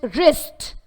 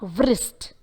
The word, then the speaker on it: wrist: Though the letter W is visible, yet since it is followed by the letter R, the W sound of the letter W is omitted. It is just wrist, but not wrist.